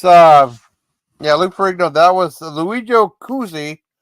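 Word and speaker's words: Cozzi: That was Luigi Cuzzi, not Michael Cuzzi. That's Jack Star. It's spelled different too.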